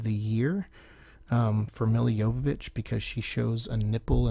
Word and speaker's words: Jovovich: this movie uh Michelle Rodriguez keeps calling her Jovovich and I love the joke where Miller goes it's yovich like I made a whole movie with you